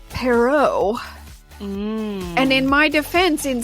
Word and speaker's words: Perrault: mispronouncing two names so i have always heard it said charles perrault but it's come to my attention that that's anglicized and it's wrong so it's actually charles perrault and in my defense